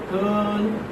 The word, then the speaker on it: curl: Curl. How do you transcribe like this? Curl. R is not pronounced.